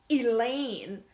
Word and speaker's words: Elaine: time the wind blows Elaine I sneak to look over her shoulder at the scariest girl me ain't great oh please don't let it be her Elain rhymes with you know what pain I'll probably never find